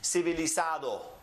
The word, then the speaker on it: civilizado: In Spanish, it is pronounced civilizado. And you notice that every syllable is divided where you have the syllable ending with a vowel.